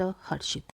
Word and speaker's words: हर्षित: पहले हमने ई की मात्रा लगाई है, फिर र की मात्रा लगाई है, तो श से पहले र का उच्चारण होगा ह र शीत हर्षित।